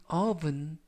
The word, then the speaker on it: oven: in the oven, 오븐 속에. 이때 발음에 유의하실 것은 오븐이 아니라 oven, oven. 알파벳 O가 발음에 가깝습니다.